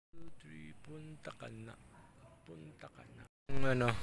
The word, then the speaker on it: Punta Cana: So ate magkano ba yung mga rate niyo rito sa punta ka na? Punta ka na po. Punta ka na. Ah hindi yung punta tapos ka na. Hindi. O yun yun pa yun daw yung pronunciation.